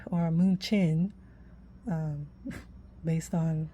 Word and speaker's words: München: Okay, so this is Munich or München, um, based on, I guess München is the German pronunciation, but Munich is pretty much how we pronounce it in the US or whatever.